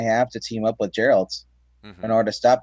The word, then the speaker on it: Geralt: So I think it's pronounced Geralt though.